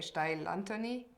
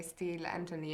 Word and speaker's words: Steil-Antoni: differently yeah I mean in German or in luxembourgish I would say style Anthony and then in English I would say steel Anthony and even there you